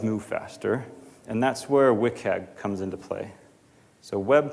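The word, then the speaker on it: WCAG: regional and does move faster and that's where wickhead comes into play so web content accessibility guidelines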